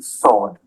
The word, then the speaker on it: sword: W as in sword. It's not sword.